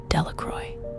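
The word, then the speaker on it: Delacroix: The villagers pronounced this name Delroy.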